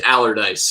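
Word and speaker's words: Allardice: It's Allardyce, and it's named after James Allardyce, who founded the distillery in 1826.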